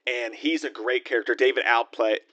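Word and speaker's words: David Alpay: David Alplay, David Alpe is how you say his name.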